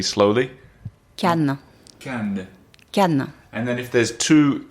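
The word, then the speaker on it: canne: maybe you can teach us all how to pronounce it 100% we'll do it 1 2 3 slowly can can can and then if there's two can in like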